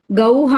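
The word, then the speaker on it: ഗൗഃ: ധേനുഹു, ധേനുഹു അല്ലെങ്കിൽ ഗൗഹു എന്നും അതിന് പേരുണ്ട്. ഗൗ എന്ന അക്ഷരം കഴിഞ്ഞിട്ട് 2 കുത്തിട്ടാൽ അത് വായിക്കുക. ഗൗഹ എന്ന് വായിക്കരുത്, ഗൗഹു, ഗൗ, ഔ എന്ന് അവസാനിക്കുന്നു.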